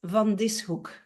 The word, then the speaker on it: van Dishoeck: And the last name is van Dishoeck. So you separate the S and the H.